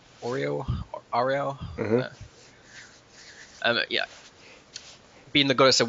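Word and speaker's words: Auril: His goddess is obviously, say it properly, it's like Ariel.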